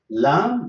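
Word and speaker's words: لام: So this is the letter Lam, the name of it, Lam, but it is the pronunciation, it is L.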